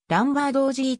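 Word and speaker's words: Lombardozzi: た元メジャーリーガー名字は正確にはランバードおじいと発音する 2008 年の mlb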